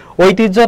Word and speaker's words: ঐতিহ্য: ঐতিহ্য, তাহলে দেখো এর উচ্চারণটা কি হবে? মনে রাখবে ওই যদি থাকে তাহলে সেখানে ও আর রস্যই হয় আগে, আর হয়জা ফলা থাকলে, উচ্চারণের ক্ষেত্রে হয়জা ফলা থাকলে আগে হয় বর্গীয় জ, তারপর হয় ঝ।